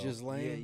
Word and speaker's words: Ghislaine: Jelaine? How do you say that? Maxwell. Guthrie? Yeah. Oh yeah, Maxwell. Ghislaine.